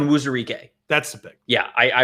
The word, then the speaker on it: Onwuzurike: Onwuzurike.